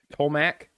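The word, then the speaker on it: Tolmach: co-writer matt tallmach holmock i think it's pronounced tolmak t-o-l-m-a-c-h pronounce it as you will um um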